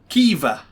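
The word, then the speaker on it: Caoimhe: how to pronounce it we pronounced that kiva and you know i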